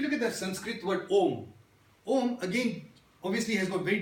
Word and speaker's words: Om: but for the Jains, they break out Om as A-A-A-U-M, Om. So that's how they break down the syllables of Om. First A, second A, third A, A, U, So Om.